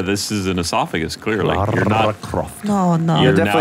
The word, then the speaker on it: Lara: I didn't say Laura Croft. It's pronounced Lara Croft, please.